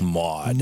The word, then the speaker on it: MAWD: That's MAWD, right? Maud. Maud. They were calling it Maud.